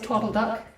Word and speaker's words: Twadle Duck: is currently 36 on the uh tweedle duck game although we do like to pronounce it twiddle duck people who have developed